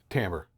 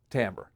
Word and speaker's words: timbre: Timber. Tamber. Yeah. It's written timber, but it's pronounced tamber.